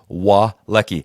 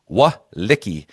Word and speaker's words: Walecki: Just to clarify, it's Walecki. I've been saying it wrong, and apparently Matt Murphy has been giving me some heat on it about saying his name wrong. So it's Walecki.